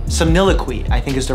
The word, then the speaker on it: somniloquy: I'm gonna butcher how to pronounce it. Somniloquy. Somniloquy, I think, is the right way to pronounce it.